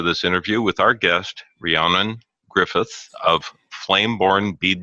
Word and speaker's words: Rhiannon: let me say that my name is pronounced Rhiannon it's a Welsh name and so it's a